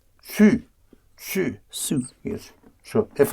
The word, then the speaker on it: su: Savoir becomes one syllable. Su.